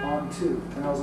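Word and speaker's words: Anh-Thu: I said what's your name and she said on to and I was like on what kind of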